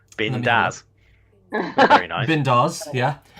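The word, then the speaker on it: bindas: I think it's pronounced Bindaz.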